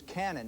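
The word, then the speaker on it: Kanon: and kicks the game-winner his name is canon now it is spelled k-a-n-o-n but uh he's got a cannon for a leg and can kick it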